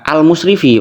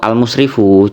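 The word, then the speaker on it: المسرف: Mestinya dibacanya al-musrifu, cuman ya beliau kepleset, dibacanya malah al-musrifi, dibaca jer lagi-lagi ya.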